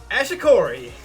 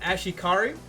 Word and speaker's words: Ashikari: So, up next, we got Ashikori. Okay, it's pronounced Ashikari.